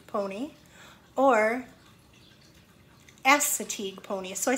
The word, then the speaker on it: Assateague: it's actually called a Chincoteague Chincoteague pony or Assateague pony so I said the first the second